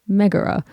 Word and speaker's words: Megara: married his first wife megara or megura i've always pronounced it the first way and that's what i'm sticking with today they had a few